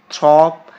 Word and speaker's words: through: কিন্তু উচ্চারণটা দুটি এই দুটো প্রায় একই রকম থ্রপ এন্ড স্লোপ বাট এটার উচ্চারণ হবে থ্রু এরপরে দেখো বিয়ার্ড এটা কিন্তু